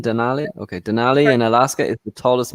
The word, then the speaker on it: Denali: the country at Denali or is that correct pronunciation Denali okay Denali in Alaska tallest mountain six thousand one hundred ninety eight meters in the u.s.